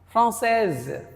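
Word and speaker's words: française: So if single S is in between two vowel then S is pronounced as Z.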